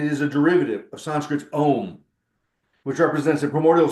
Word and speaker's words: Om: word is the word is om pronounced om we all use it